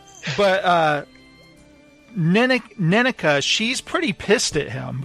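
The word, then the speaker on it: Nenneke: Neneka.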